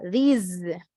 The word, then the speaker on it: these: Cuando yo les dije que para eso nos iba a servir esta pronunciación correcta de these, con Z, these, ¿verdad?